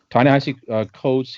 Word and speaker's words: Ta-Nehisi Coates: I did write down the pronunciation. Ta-Nehisi Coates.